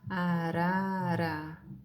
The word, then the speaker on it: arara: Então é o ra, arara. É uma vibração bem leve, tá? Mas tem uma vibração.